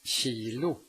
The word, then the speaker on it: kilo: If the K is located in front of a soft vowel at the beginning of a word, it is pronounced sh. Kemi, kemi. Ett kilo, ett kilo.